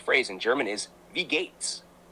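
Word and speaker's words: Wie geht's: speak German Kleiner shriber the phrase We Gates pronounced V Gates is indeed the correct and common way to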